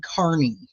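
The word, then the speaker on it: Kearney: his name is Aiden his name is Aiden Kierney but but because of where from it's they they it's like a freaking Alec Murdoch thing um it's it it's Aiden Carney like how it's pronounced so it's Aiden Carney is his is his name and he goes by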